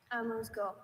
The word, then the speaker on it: amuse-gueule: Amuse-gueule. Amuse-gueule. May I have all the information, please? Sure. I have a few pronunciations.